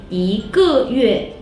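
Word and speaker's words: 一个月: You can say 一个月, 一个月. Now, 一 is the second tone.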